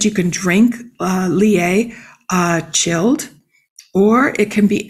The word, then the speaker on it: Lillet: Then there is the aperitif called, I'm going to massacre the pronunciation, Lillet.